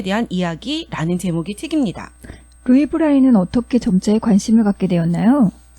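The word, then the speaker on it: Braille: 말로 하면 브레일이라고 불러요 점자를 발명한 사람이 바로 프랑스의 루이 브라이 아고 하는데요 프랑스 사람이잖아요 그래서 그 사람 이름을 영어로 발음하면 브레일이 된다고 합니다음 근데 루이 브라이가 점자를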